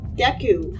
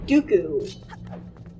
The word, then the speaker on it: Deku: why we thing else that's always pronounced Deku and I was a kid I never knew anyone since around sick Deku so I always call it Dooku's and I'm probably not going to stop calling that I don't really see